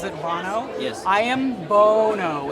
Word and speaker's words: Bono: I am Bono. It's oh no, it's Bono. I gotcha, like pro bono.